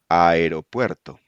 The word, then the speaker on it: aeropuerto: The letter a plus another strong vowel, e or o, does not form a diphthong, and each letter is pronounced separately. Example: aeropuerto.